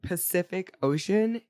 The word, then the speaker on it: Pacific Ocean: to pile on but every C in Pacific Ocean is pronounced differently that's funny isn't that weird fun fact go follow Miriam Webster has an SK and then an sh sound I'm going to start